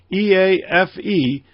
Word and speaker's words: EAFE: And the other one, the MSCI EAFE, and that's how it's pronounced, by the way, EAFE, stands for Europe, Australia, and the Far East.